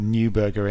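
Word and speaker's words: Neuberger: of the roles nberg maybe pronounce it newberger in English I'm saying it the German way German way there Lord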